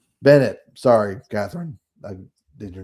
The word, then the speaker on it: Bennett: Katherine Katherine yeah what's her name Basset or something Bennett Bennett Sorry, Katherine. I did your name wrong.